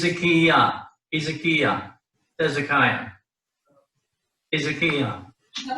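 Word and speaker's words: חזקיה: It's he zik. The Sheva is not silent because the Sheva is vocal right there. He's a Kia. He's a Kia. Hezekiah.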